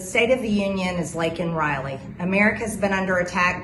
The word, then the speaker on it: Laken Riley: his speech concerning the death of college student Laken Riley, with Biden accepting from her a commemorative pin, including a photo of Riley. Watch this from X. And the State of the Union is Laken Riley.